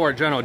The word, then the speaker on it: Argento: That's Argent. Right. Okay, I get him confused all the time. Yeah, the O is silent.